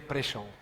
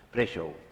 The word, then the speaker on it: Prešov: Es pronuncia Prešov. Prešov.